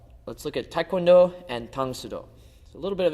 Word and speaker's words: Tang Soo Do: Now if you read karate in Korean it would be pronounced tangudo.